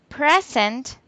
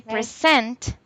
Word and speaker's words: present: If you say present, it means gift. But if you Yes, say present, is the verb. present. Yes, teacher. That is the Present. difference with the pronunciation because it can change.